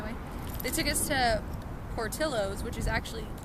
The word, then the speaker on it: Portillo's: getting in my way they took us to Portillo's which is actually how you pronounce it weird right who knew but like